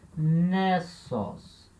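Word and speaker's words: νῆσος: E aqui, nessos. Nessos, ilha. Essa palavra tem que ter uma atenção especial, porque, repara, a acentuação dessa palavra ela é feita com acento circunflexo.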